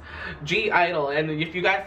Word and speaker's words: (G)I-DLE: go dragons for safety either well hello it's G Idol and if you guys say it's Idol well